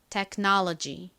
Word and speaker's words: technology: 식으로 발음이 되거든요 들어보세요 technology technology 요렇게 발음이납니다 자 한번 천천히 따라해 보세요 technology 한 번 더 해볼게요 이크 소리를 너무 세게 테가 아니라요 이크를 약하게 발음해 주셔야 돼요 technology 좋습니다 요거는 길고 너무 어려워서 좀 두 번만 더해 볼까요이 부분에 가장 큰 강세가 있어요 해 볼게요 technology 한번